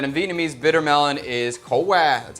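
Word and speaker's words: khổ qua: Or I also like that it works, that in Vietnamese, bitter melon is co qua, that's how you say it.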